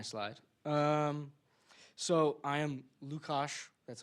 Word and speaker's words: Luka: Um, so I am Lucos, that's how you pronounce it, Lucas.